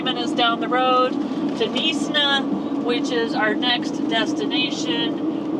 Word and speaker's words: Knysna: And so this town, I was like, Knysna, or trying to pronounce it, and instead it's Knysna. And so we had that one way wrong, but now we've got it right.